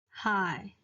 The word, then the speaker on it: 海: So the third tone of high is pronounced as high.